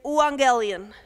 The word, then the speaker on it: euangelion: So the word in Greek is euangelion. That's how you spell it.